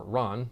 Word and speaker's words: Ran: do a film called ran back in the 1980s or ron however you want to pronounce it which is actually a